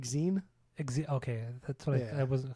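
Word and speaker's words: Exene: Like Zine. Okay, that's what I wasn't. Okay. But then her and I on a pretty close basis. I call her Zine or Zini sometimes.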